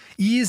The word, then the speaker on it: Eaze: Ease is a company that you can feel good about doing business with.